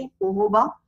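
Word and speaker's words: jojoba: सो इसको हम लिखते जोजोबा है, बट हम प्रोनाउंस क्या करेंगे? जोजोबा, right.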